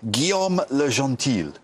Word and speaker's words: Guillaume Le Gentil: Susie you'll tell me if I get his pronunciation correct uh Gom lean very good lean yes excellent that was his